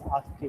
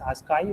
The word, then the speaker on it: ASCII: They are compared with a concept called as ASCII values. They are converted into a numeric representation, and the numeric representation is known as ASCII or ASCII, depending on the pronunciation.